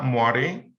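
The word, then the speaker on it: moiré: como patrón de muere se escribe se menciona muere en realidad se escribe muere bueno este yo puedo utilizar rejillas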